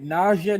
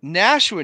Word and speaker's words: Nashua: it went out for a second if i'm pronouncing the city name right nausea new hampshire i'm going to give you credit i'm actually sitting in that city right now it's nashua new hampshire two-time number one city in the